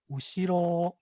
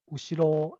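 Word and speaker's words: 後ろ: So the last pattern is flat. So the pitch has a low starting point on the first syllable or two, and then it goes up slightly and then levels out. And there's no high pitch tone or accent within the word. So the example is ushiro, ushiro, it's a flat intonation.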